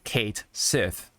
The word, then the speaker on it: Cait Sith: Final Fantasy 7 rebirth K Sith is pronounced Kate Sith you know like uh the name Kate and Sith right and that did not